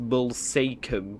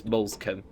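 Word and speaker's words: Moulsecoomb: Looks like it should be pronounced molum, but it's molescom.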